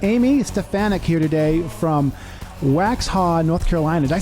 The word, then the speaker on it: Waxhaw: We got Amy Stefanik here today from Waxhaw, North Carolina. Did I say that right? Waxhaw, yeah.